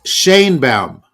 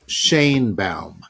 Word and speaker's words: Sheinbaum: It's Sheinbaum. Oh, okay. She pronounces it Sheinbaum.